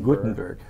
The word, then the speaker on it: Gothenburg: went to sweden yeah it was gothenburg although it's spelled differently g-o-t-e you know got to gutenberg yeah yeah um so